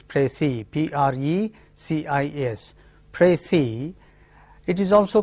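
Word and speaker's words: précis: is has precis s the final s is silent in French that the convention is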